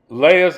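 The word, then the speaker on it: Leah: the younger was Rachel now some may pronounce it Leia Aaliyah yeah Leia's eyes were weak but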